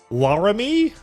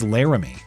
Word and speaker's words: Laramie: Is the capital of Wyoming pronounced Laramie or Laramie? It's Laramie.